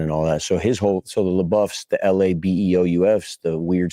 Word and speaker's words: LaBeoufs: So the LaBeoufs, the Labeoufs, the weird spelling, we all grew up. L-A-B, because we got beef in L.A. You spell it L.A. beef.